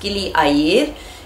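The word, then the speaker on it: Gili Air: spelled like a a i r but it's pronounced Gilli a it's in Indonesia and it's opposite lombok which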